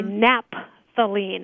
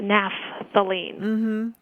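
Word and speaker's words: naphthalene: you pronounce that because sometimes people just abbreviate the pH as a p m so they would say napthalene as opposed to napthalene yeah I could see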